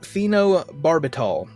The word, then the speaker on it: phenobarbital: here we go with the names each took phenobarbital it's a sedative that was prescribed to Emil